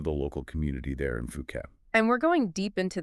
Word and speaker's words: Phuket: And just so we're clear, it's Phuket. Right. Phuket. Important pronunciation point there. Exactly, like Phu and then ket, Phuket.